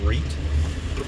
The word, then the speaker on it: REIT: It's pronounced REIT.